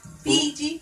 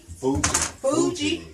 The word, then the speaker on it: Fuji: You, the chef told me that it's pronounced Fiji. Fuji. It's for Fuji apple. F-U-J-I. Yes, Fuji. Fuji The Fuji apple. apple is Like Mount Fuji.